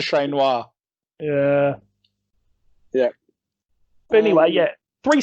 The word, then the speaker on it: Ché Noir: do a shout out you should say her name properly so shout out to shane noir yeah yeah anyway yeah